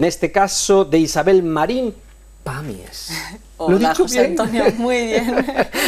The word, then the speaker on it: Pamies: Ya ustedes ya desde casa lo saben, que el apellido Pamies debe de tener el acento en la A, ¿vale?